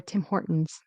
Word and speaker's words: Tim Hortons: But anyways, Tim, it should be timort or Tim Hortons. Right. So, the it's like a glottle T.